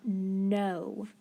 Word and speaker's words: know: good job how about no no at the beginning of no i hear that n sound but remember it's that k in n o now remember can i